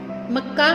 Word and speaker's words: मक्का: जब हम मक्का शब्द का उच्चारण कर रहे हैं तो ये पीछे वाला जो का है ये स्पष्ट पड़ा जा रहा है, इसकी साउंड थोड़ी ज़्यादा निकल रही है, जैसे का।